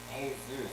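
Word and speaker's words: Jesús: Hey, Zeus.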